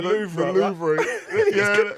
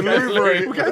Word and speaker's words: Louvre: It's spelled Louvre though, isn't it? It's Louvre. So mate, I'm English. I'm with Carlton. I'm not going to go try and spice it up and put Louvre or whatever it is.